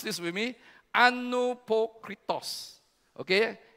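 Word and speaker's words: ἀνυπόκριτος: And can you pronounce this with me? Anupokritos. Okay? Anupokritos.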